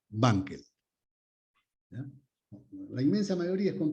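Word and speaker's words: Wankel: famosos motores bankel Banquells la W se pronuncia como B bankel la inmensa mayoría es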